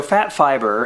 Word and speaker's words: Phat Fiber: included inside the box so fat fiber and fat is spelled pH a um fat Fiers is